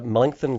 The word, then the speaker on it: Melancthon: Are you familiar with the Melancthon Quarry?